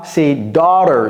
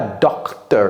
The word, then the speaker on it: daughter: comment je prononce ça c'est daughter ce n'est pas docte j'entends très souvent docteur ce n'est pas correct da da el school